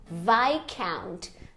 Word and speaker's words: viscount: Viscount. Não tem S, essa palavra se pronuncia como Viscount.